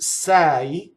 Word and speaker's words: sai: don't modernize the Italian the word Sai is open e e it doesn't rhyme with say in English right it's too it's